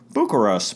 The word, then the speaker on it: Bucyrus: there very friendly people we drove through Bucyrus pronounced Booker us by Jim Mudcat gran of the Cleveland Indians